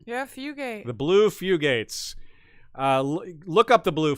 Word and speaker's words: Fugates: who sent us a link to the blue fugates i say that right yeah fugate the blue fugates uh look up the blue few gates it's